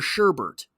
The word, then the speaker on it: sherbet: out and fed her sherbet now he has to he has to pronounce it the midwestern way because it has to rhyme with pervert but it keeps in